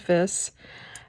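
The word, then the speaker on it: Wiss: it's w-i-s-s it's german i looked up the pronunciation just to make sure and it is this um and these are stamped on the back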